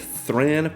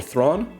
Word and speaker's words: Thran: Next up, we have Thran Power Suit or Thrawn perhaps. I've heard them pronounced this uh both ways.